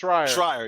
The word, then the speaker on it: Schreier: I think that people do forget about when Jason Schreier, or Shire, I think that's his name, Shire. Was it Shire or Schroeder? I don't know how you say it. Schreier, yes, Schreier.